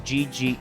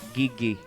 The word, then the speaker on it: Gigi: It's like when people pronounce my name as GI instead of Gigi.